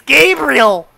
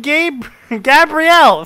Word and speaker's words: Gabrielle: Fucking chat just like it's Gabriel. It's not. This is not an angel, nor is it male. I'm saying Gabrielle.